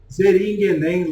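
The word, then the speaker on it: Zähringen: Lá no castelo de Zeringen, lá na Suíça. Né? É mais ou menos assim que se pronuncia o nome, sabe, desse castelo.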